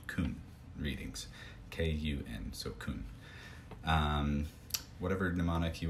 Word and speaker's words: kun: And then the Japanese, the original pronunciations, are called kun readings, K-U-N, so kun.